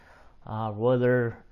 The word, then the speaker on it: Royler: All his children's names start with R's. But you don't pronounce the R. It's more like an H or a silent R.